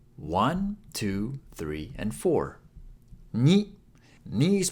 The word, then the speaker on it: に: two, three and four に is pronounced like /ni/ in ‘needle’ Do you see the needle pulling the thread?